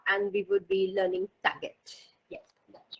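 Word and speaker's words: Taguette: it's sort of a pun on baguette. Oh, okay. Tagette. So now I would be pronouncing it correctly.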